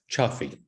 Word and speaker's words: Cioffi: Do I pronounce that correctly? Cioffi.